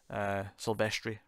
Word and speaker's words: Silvestri: Silvestri, rather, say it properly.